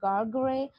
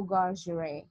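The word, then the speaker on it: Gargery: brother-in-law mr joe garcia you can pronounce it either ways joe gargray or joe garcia okay now resuming towards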